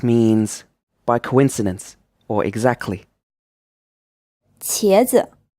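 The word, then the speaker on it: 茄子: 茄子 This is pronounced with a second tone, and then the second syllable is unstressed.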